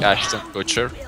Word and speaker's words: Ashton Kutcher: I don't like Ashton Kutcher because it's so hard to pronounce his name. Ashton Kutcher. Ashton Kutcher. Yeah. It's not that hard. Get away. It's like saying a butcher.